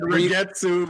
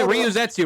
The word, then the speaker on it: Ryuzetsu: You said Rigetsu. Is it Ryuzetsu, right?